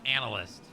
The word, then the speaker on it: analyst: You said analist. What do you mean? Okay. It's analyst.